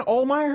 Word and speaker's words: Ohlmeyer: It was because of Dan Ohlmeyer, I think is how it's pronounced.